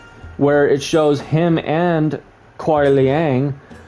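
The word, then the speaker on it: Kuai Liang: it shows him and Cole Leang, which is how you say his name properly, just so you guys know.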